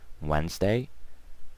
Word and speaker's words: Wednesday: 2ds silent okay so don't pronounce the D Wednesday Thursday Friday and Saturday